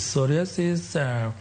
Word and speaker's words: psoriasis: To mangiso ni P kuom josani waluongo ni P is silent. Koro waluongo ni psoriasis.